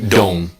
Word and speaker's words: don't: What I want to show you is that when we have N''T, the T is completely silent. The word don't is really don't. T is silent.